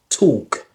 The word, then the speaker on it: talk: So this is all about the pronunciation of the silent L.